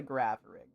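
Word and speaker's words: Girafarig: It's called a Grapharig.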